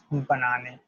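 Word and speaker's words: bonne année: That simply means banane, banane, banane, right? Just like as you will pronounce it as banane, banane, banane.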